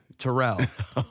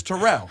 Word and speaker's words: Terrell: I called him Terrell. Sorry, bruh. It's Terrell. I mean, I know other Terrell. The problem is that name in general is Terrell. Is it spelled Terrell. the same? It's spelled the same. It's spelled the same. So he gets mad about it, but that name's Terrell.